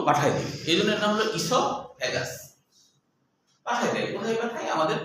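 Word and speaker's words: esophagus: ইসোফ্যাগাস। ইসোফ্যাগাস। ও উচ্চারণ হয় না।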